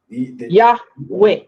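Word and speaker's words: יהוה: Yahweh, Yahweh, Yahweh.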